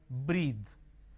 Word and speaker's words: breath: for example think breathless bath the this Rhythm breathe so b r e a t h e